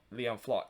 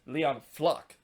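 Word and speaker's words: Leon Flach: on the cake as leon fox would score or not liam flock it's leon flock that score from from sullivan to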